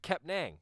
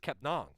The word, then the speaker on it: Kepnang: So Frank, we had called him Frank Kepnang, right? Like that's how it's spelled, N-A-N-G. And Frank actually was like, actually, it's Kepnong.